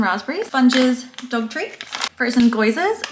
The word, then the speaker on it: gyoza: Crushed chili, frozen mango, frozen raspberries, sponges, dog treats, frozen goizers. We call them goizers, but I think they're actually pronounced gyoza.